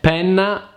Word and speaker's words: penna: Yet penna is pen, and pena is punishment. In order to pronounce the double consonants the right way, remember that there is always a pause in there.